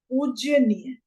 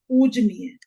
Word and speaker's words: पूजनीय: इसी तरीके से शुद्ध शब्द है पूजनीय, और गलत क्या लिखा जाता है? पूज्यनीय। पूज्य और नीय प्रत्यय इसमें लगा दिया जाता है और हम लिख देते हैं पूज्यनीय, जबकि शब्द होता है सही पूजनीय।